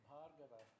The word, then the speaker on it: Bhargava: It should be pronounced Bhargava. First of all, the stress is on the first syllable. And secondly, there's a VH. You should feel the H in your throat.